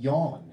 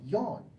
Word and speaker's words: Jan: you speaking of names I met this guy here named yon and I said do you mean Jon and he's like no no no yon like how do you